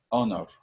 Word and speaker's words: honor: Here we have honor, okay? Here is silent, cannot pronounced, so we have to add here at the beginning of this word an because it is silent.